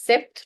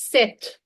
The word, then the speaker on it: sept: 7 is, now remember, here P and T will have a different sound here. We'll not say it as sept. No, that's incorrect. We will say it as, I'm writing the pronunciation in the bracket. Please do not mistake it with the spelling. The one in the bracket is the pronunciation. This is set. Set. Not sept.